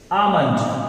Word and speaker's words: almond: वो इसे करेक्टली क्या प्रोनाउंस करेंगे? आप इसे करेक्टली क्या प्रोनाउंस करेंगे? आप इसे बोलेंगे like this, आमंड। What do यू से? आमंड। व्हाट डू यू से? आमंड। You will speak this word correctly, आमंड।